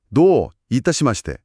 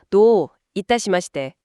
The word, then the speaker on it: どういたしまして: 발음이 노 이따시대 처듬절을 길게 발음하는게 포인트라고 하죠. 네, 맞아요. 그 장음이 정중한 느낌을 살려주는 아주 중요한 부분입니다. 노 이따시대.